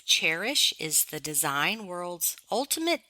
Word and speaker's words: Chairish: Abigail mentioned selling on Cherish, which is spelled Chairish.